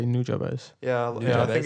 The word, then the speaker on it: Nujabes: say Nujabes.